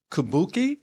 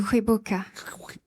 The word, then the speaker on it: Kwibuka: And I suppose No, talking about Kabuki. Is is that I'm pronouncing it correctly? Kwi buka.